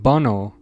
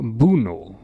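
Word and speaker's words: Bounou: Apparently, it was always pronounced Bono and not Buno.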